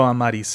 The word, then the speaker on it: Amaris: I like to throw Amaris in there, right? That's how I like it. I love the sound of it. It's beautiful. But Amaris is accepted. Yeah. Yeah. Amorous sounds like the word amorous, which means like full of love. Which isn't bad, but Amaris sounds a lot better.